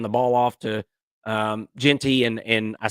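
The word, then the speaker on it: Jeanty: And they hand the ball off to um Genty and and I said Gentry, and I'm sorry about that. I meant Genty.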